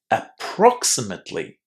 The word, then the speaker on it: approximately: And the stress here falls on the second syllable. Approximately.